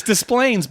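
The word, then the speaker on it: Des Plaines: casino Rivers Casino in displays Illinois I hope I pronounce that you know it's so funny because no it's with an S it's displays but I the thing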